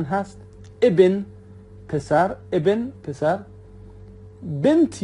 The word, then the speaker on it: بنت: بنت یا بت دوستان به صورت یعنی نون گاهی تلفظ نمیشه، بت یا بنت همون دختر هست.